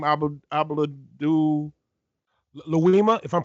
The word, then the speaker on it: Louima: Abdul Louima, if I'm pronouncing it correctly. Yeah, you're right, Louima.